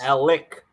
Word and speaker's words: Alec: why are you doing that to me I don't what is this Alec Alec oh my God hey don't call them Alex yeah he's watching this show he's like hey say my name right I'm not gonna hit